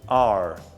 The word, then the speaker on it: are: vamos pensar sobre o ar Você viu que escreve ali a r e mas a letra e você não pronuncia passou pronúncia termino R